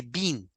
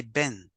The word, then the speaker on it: been: word here guys remember we don't say been we say Ben we have been we